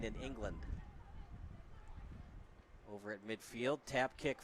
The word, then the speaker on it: England: England, not England, and then England. It's always weird, the English language, because technically it's written land, but you're supposed to pronounce it Lind.